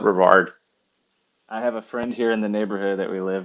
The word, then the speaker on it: Brevard: it's exact same spelling either pronunciation is totally common but locals call it Brevard I have a friend